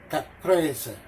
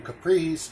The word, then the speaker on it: caprese: going to pronounce it the true italian way it's chicken caprese caprese so i have it wrong chicken capris chicken compressed it's chicken